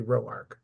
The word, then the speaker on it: Roark: your last name because I for years have said roor but it's clearly Roar so we will go with that and with and with